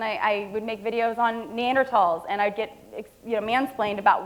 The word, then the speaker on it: Neanderthal: And I was, well, actually, I'm a biological anthropologist, and they actually do say Neanderthal with a hard T.